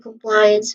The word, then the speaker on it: compliance: First syllable is qu which is awa sound. Compliance. So ply is the second syllable which has a dip thong sound and then it ends with ends which has awah sound in the beginning. So the stress syllable is on ply.